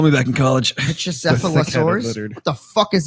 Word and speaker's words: Pachycephalosaurus: Pachycephalosaurus.